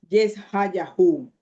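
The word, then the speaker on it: ישעיהו: Isaías e eh vamos a tratar de de de pronunciar el nombre de Isaías en hebreo. Yesahuah era el nombre en hebreo de Isaías.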